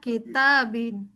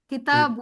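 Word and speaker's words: كتاب: Hza kitabin kitabun kitabun. Jangan bin ya.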